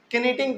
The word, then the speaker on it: knitting: देखिए बहुत सारे बच्चे ना इसको नीटिंग पढ़ते हैं, नहीं, के यहाँ पे साइलेंट होता है, इसको हम लोग नहीं बोलते हैं, केवल नीटिंग बोलते हैं, NITTING, नीटिंग, ठीक है ना।